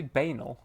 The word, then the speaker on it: banal: Did you say banal? Yeah. Banal. Sounds Why did bad. you say just pronounce? Why did you rhyme it with anal?